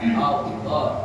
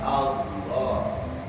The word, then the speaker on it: Allah: Makanya kalau kita tulis kan A-L-L-A-H. Tulisannya Allah. Bacanya Allah. Ya karena bahasa Arab nggak ada O, nggak ada.